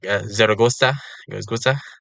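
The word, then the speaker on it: Zaragoza: is zagon with like Zera Goa and also I think the Z is a lisp I don't remember yeah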